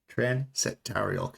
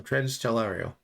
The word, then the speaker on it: Transtellarial: No, I said it right the first time. Transtellarial.